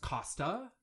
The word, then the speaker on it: Coster: There is a word, Coster, which is pronounced Costa.